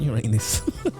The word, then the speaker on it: Uranus: By the way, as a kid, I always thought that Uranus was the right way of pronouncing that. If you thought Uranus was the right way of pronouncing that, let me know at Rick's Horror. It's Uranus, not Uranus. Oh, children.